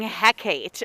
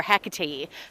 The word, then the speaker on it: Hecate: of these goddesses including hecate or hecate depending on how you pronounce it has a similar totem